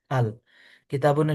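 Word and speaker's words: الكتاب: আল। কিতাবুনের শুরুতে আপনি এই আলটাকে যুক্ত করে দিবেন। তো কিতাবুন একটি বই। এখন যদি আপনি আল যুক্ত করেন উচ্চারণ কি হবে? আল কিতাবু।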